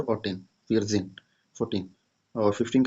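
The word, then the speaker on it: vierzehn: तो सबसे पहले हम लोग 4 लिखेंगे, फिर 10 का लिखेंगे, तो 14 का फियर जेन, 4 और 10, फियर जेन 14।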